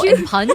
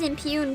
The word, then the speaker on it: impugn: Impunge? I don't know. It might be impunge, and it might just be a typo. I'm pronouncing it right. It is impugn.